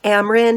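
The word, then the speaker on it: Amren: Amrin is just Cameron without a C.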